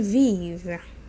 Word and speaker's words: vivent: Ils vivent, they live or they are living. Remember, don't pronounce the NT at the end.